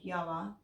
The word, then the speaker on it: Yoah: So position number 4 is a company called Yoah, which is spelled Y-O-A-H.